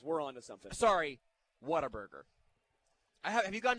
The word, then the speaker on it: Whataburger: want to always exclaim what a burger i feel like you have to pronounce it like if if you go through the drive-through and they go like hello welcome to what a burger and then you um